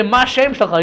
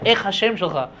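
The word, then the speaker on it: מה השם שלך: I was like, that's not how you say it in Hebrew. You say either Ech korim lecha, or you say Ma Shem shelcha. You don't say Ech Hashem shelcha.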